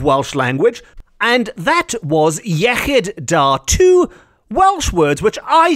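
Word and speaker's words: iechyd da: glasses in celebration in Welsh the equivalent is yid Da which is often pronounced Yi da by people who who haven't got their tongues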